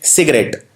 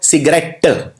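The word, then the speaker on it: cigarette: लोग प्रोनाउंस करते हैं इसको सिगरेट, टे पे जोर मारते हैं, लेकिन इसको बोला जाता है सिगारेट। हम टी पे कम जोर देते हैं बोलते वक्त, इसको प्रोनाउंस ढंग से हम नहीं करते।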